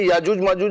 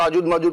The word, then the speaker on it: یاجوج ماجوج: اچھا، یہ تلفظ یہی ہے یاجوج ماجوج ہے؟ لوگ تو آجوج ماجوج پتہ نہیں کیا کیا بولتے ہیں. وہ کیا بولتے ہیں، وہ یاجوج ماجوج.